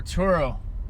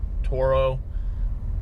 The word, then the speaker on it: Turo: going to go over turo turo toro pronounced couple different ways but regardless it's a